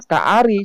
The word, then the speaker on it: ka'ari: Orang Yahudi menjawab, ya mayoritas tertulis huruf ka'ari, bacaannya ka'ari seperti seekor singa.